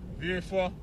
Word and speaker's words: Vieux Fort: Some people say Vieux Fort, they pronounce it the French way, Vieux Fort.